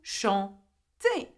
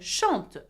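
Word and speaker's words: chantent: Vous chantez. IZ. And il or elle, which means they, by the way, chante. Okay, E-N-T. Now, though there is E-N-T, you do not pronounce the N and the T.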